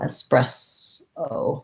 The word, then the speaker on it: espresso: it's the clear vowel so just like the word press uh espress o and then we just add in our our o espresso um but be patient